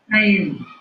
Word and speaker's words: Saliee: Saliee. Kind of? Yeah. Hearing Right. it? Yeah. Saliee.